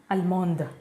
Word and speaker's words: allemande: Allemand, allemande, German. And here D is pronounced in feminine version.